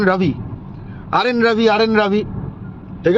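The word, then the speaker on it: Ravi: রবি রাজেন্দ্র নারায়ণ রবি একটু ওদের স্টাইলে উচ্চারণ করে বললাম রাজেন্দ্র নারায়ণ রাভি আরেন রাভি আরএন রাভি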